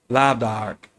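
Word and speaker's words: lámh dearg: Hence, the symbolic lamh dearg, pronounced lav-dark, the red hand of Ulster.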